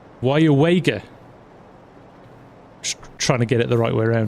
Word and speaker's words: Weyauwega: Can we hear you pronounce this town? Yes, it's Weyauwega.